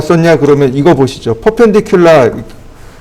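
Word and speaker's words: perpendicular: 퍼펜디큘라, 퍼라고 읽을 건가요? 그건 아니죠. 퍼펜디큘라라고 읽어야 되겠죠.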